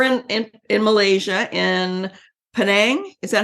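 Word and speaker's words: Penang: feel so you're in in in Malaysia in panang is that how it's pronounced yes that's an island so you're in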